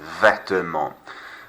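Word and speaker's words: vêtements: Silent T, silent S. Vetements.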